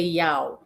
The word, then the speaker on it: Yao: Yo A has So I'm I'm saying yo and I think I heard you say ya. So I need to get I need to get that right. I cannot not say it right.